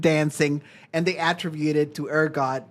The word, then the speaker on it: ergot: Yeah, they started everyone in town started dancing, and they attributed to ergot. Is that how you say it? Yeah, ergot.